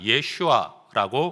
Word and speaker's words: 예슈아: 예수라는 이름을 히브리어로 발음하면 예슈아라고 말할 수 있습니다.